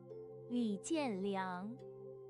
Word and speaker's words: Li Jianliang: Li Jianliang.